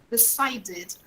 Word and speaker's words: decided: have to always remember we never pronounce this vowel here this vowel e like we pronounce in portuguese okay we never pronounce